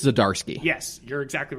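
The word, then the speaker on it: Zdarsky: my god say his name i think it's zadarski yes you're exactly right that's how you say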